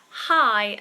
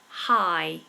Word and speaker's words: high: version of hello, and high, as in to be at a great height? They're both the same. High. High. They're both the same.